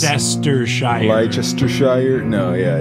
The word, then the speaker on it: Leicestershire: Well, especially, too, because when I see down here and it's There's a like million syllables. Leicestershire.